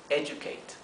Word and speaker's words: educate: que significa educar educate fíjense que en inglés Generalmente Cuando tenemos una d y una u no se pronuncia du ni du se pronuncia por eso lo transcrito aquí con una jh para transcribir el sonido j y una I y una u esto es educate educate sí Y tenemos